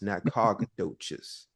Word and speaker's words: Nacogdoches: Uh, so when I moved to a magical place called Nacogdoches, Texas, which is spelled N O N-O-C-A Nacogches, Nacog, no, Doches, Nacogdoches, right?